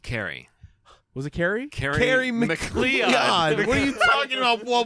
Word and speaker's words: McLeod: Okay, now, That's how that's spelled. Leod. now if you're out there listening, you know that's McLeod.